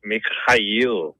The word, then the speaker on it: Mikhail: Russ, I hate to correct you again, but it's Mikhail.